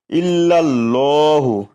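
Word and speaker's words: إِلَّا ٱللَّٰهُ: ইল্লাল্লাহু, ইল্লাল ল 1 লিপ টান দিতে হবে।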